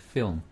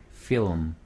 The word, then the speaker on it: film: 그럼 천천히 하면 feel, feel, 빨리 하면 film, feel, film, feel, M을 조금 더 깨끗하게 L 하고 L, M 발음을 깨끗하게 film, film, 지금 잘한 거예요.